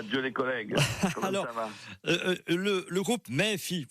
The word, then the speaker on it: Méfi: les collègues le groupe méfie il faut prononcer à la provençale mais si on général